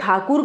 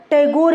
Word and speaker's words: ठाकुर: अमीर थे कि उन्हें ठाकुर कहा जाता था और अंग्रेज जो थे वह ठाकुर का प्रोनाउंस एशन टैगोर में करते थे इसलिए ठाकुर से टैगोर नाम पड़ा टैगोर का मूल उपनाम